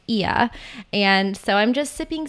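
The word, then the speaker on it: Oia: to Santorini Greece tuia which I used to pronounce wrongly I used to call it Oya but Rolf Potts kindly let me know that it's pronounced iya and so I'm just sipping some coffee it's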